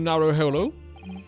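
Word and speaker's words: Naruhodo: Narrowhollow. That's how you pronounce it.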